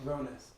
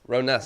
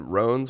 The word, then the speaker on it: Roness: me triple check you how do you say your last name uh roness roness that's what I thought dude I thought somebody said Ron's once did the other day and I I let people get away with it but yeah